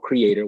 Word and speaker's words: CRE8TOR: So yes, I have an app called Creator, which is spelled CRE8TOR.